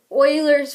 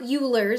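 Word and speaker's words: Euler: vertices and edges and this is called Oilers formula not ERS I know that's what it looks like it's spelled but it's Oilers formula okay and it's given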